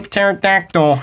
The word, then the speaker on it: pterodactyl: I belong to a pterodactyl and the reason why it's all clear and not there is because uh the p is silent I'm just gonna pretend